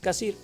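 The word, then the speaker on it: Cassirer: Hay un filósofo, Ern Cassir, se escribe Ern Casirer, Ern Cassir.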